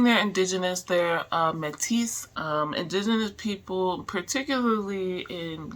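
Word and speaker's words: Métis: it is pronounced as metis therefore some pronounce it the French way as metis but in English it is often also pronounced as mi mi with a silent s especially in Canada for example it is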